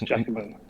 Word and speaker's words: Giacomo: pronounce Giacomo before. Yeah, it's Giacomo.